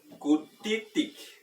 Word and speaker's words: kutitik: Kutitik. Tenemos acento en la primera i para que el tono alto sea la primera sílaba.